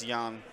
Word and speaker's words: Jan: They said it's Jan. Jan? Pronounced Jan. So they're J's as Y's.